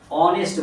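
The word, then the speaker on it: honest: যেখানে হনেস্ট লেখা আছে, হনেস্টটাকে অনেস্ট বলতে হবে, তার জন্য এইচ কনসোনেন্ট হলেও ওর উচ্চারণ অ আসছে, তার জন্য এখানে অ্যান বসবে।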